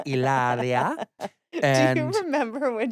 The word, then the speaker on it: Hilaria: Of course, you don't pronounce the H. It's Hilaria.